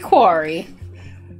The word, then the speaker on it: quarry: nailed it scar square quarry a lot of people are saying i pronounce query wrong it is because it's quarry scory quarry scary query it just rolls off the tongue